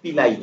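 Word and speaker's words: pili: structure গুলোর মধ্যে capsule পিলাই এর উচ্চারণটা মনে রাখবেন পিলাই হ্যাঁ পিলাই পিলাই ফ্লাজেলাম স্পোর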